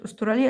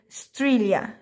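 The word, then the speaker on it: Australia: لدوله استراليا او قاره استراليا اسمها ايه ستريليا استراليا ما تقولش استراليا لا هتكون طيب عندنا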